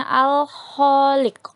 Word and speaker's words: Al-Khaliq: arti dari Al Kholik kata Al Kholik Hai Al Kholik bukan Al Kholik hati-hati dalam membacanya ya disana ada huruf alif lam Ho alif lam dan kok Jadi dibacanya Al Khaliq Al Kholik artinya Allah